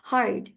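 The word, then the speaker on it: heard: হ্যাঁ এইচই এ আরডি হারড হারড even ই আছে ইটা silent থাকছে।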